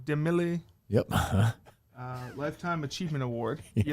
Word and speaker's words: DeMille: It's not DeMille. No, it's DeMille. But good. DeMille.